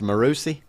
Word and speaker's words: Marucci: Marucci M m-a-r-u-c-c-i married to you yeah absolutely Mariucci yeah Steve Louisville Slugger it's pronounced morusi it's probably got the H sound with double